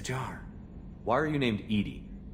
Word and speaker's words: EDI: airlock is a jar why are you named Edie Edie is the phonetic pronunciation of e di that is an acronym